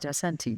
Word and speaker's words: Isanti: Am I saying it right, Isanti?